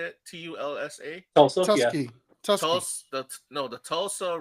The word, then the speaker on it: Tulsa: It's called the Tulsa. How do you say it? TULSA.